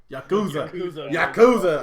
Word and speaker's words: Yakuza: Yakuza.